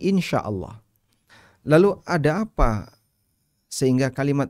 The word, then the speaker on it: إن شاء الله: ini dalam bahasa Arab Kita mengucapkannya dengan ee bunyi Insyaallah Lalu ada apa sehingga